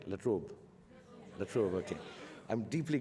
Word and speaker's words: La Trobe: I'm deeply grateful to the university, the La Trobe, do I pronounce it right? La Trobe.